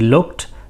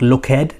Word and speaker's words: looked: Notice it's not looked, it's looked. So it's only 1 syllable, even though if you're from Spain you might say looked, or Italy as well.